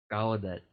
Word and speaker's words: Gallaudet: It's in it's Gallaudet University. I hope I'm pronouncing it right. Gallaudet, yeah.